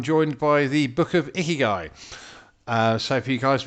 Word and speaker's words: ikigai: the word really well a lot of people have like difficulties you know saying ikigai but yeah that's how it's pronounced uh but yeah my